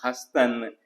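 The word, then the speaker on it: هستند: इस तरह से हस्तंद, यहाँ भी देखिए नून दाल को हम पूरी तरह से प्रोनाउंस नहीं करें तो दाल को हम ड्रॉप करेंगे तो बना हस्तन, वे हैं दे आर।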